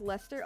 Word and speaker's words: Leicester: Pronounced Lester?